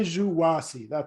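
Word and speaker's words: Juǀʼhoansi: Well, Zhengwasi. Junwasi, I'm sorry. Yeah, say Zhuwasi. There's a click in it, but you just say Zhuwasi. That's the way people like me say it.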